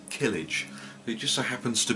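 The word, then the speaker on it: Kilij: So yeah, Killage, I think that's how it's pronounced. K-I-L-I-J.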